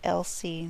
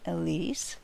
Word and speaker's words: Elsie: It's actually Elsie, not Elise. I think I just got a little dyslexic there and switched around the letters.